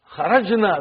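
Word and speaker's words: خرج: Kharajna. Where is the verb? Say it properly. Kharaj. With sukun. You won't say with? No. You will say kharaj.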